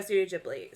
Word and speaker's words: Studio Ghibli: Is that how you pronounce it? Yeah, Studio Ghibli.